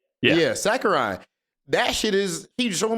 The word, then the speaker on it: Sakurai: Yeah, Sakurai.